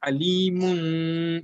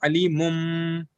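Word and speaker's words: أَلِيمٌ: So, but the way iklab is pronounced is alimun, not alimum. A lot of people have been taught that way, and I was also taught that way, that you have to read it as meme. But you listen to any international qari, any qari, and very closely, if you hear it is not a meme that is pronounced, it will be alimun bima kanu, not alimum.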